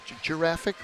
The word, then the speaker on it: Jurassic: points to scoring passes I think that's a soft G Jurassic like a giraffe your giraffe okay not